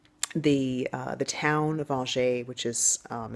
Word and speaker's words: Angers: been beautiful um the uh the town of algae which is um it's spelled it's spelled angers basically a-n-g-e-r-s uh algae is beautiful it's in the Loire Valley it's